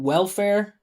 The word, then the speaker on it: welfare: It's hard to tell which syllable is stressed when you keep your mouth closed, right? She go woofer. Look how I emphasize it.